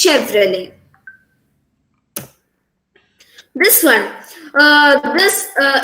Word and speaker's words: Chevrolet: the correct pronunciation is chevrolet the t sound is silent that's all and the e sound must be stressed it's chevrolet it's not chevrolet it's chevrolet this one uh this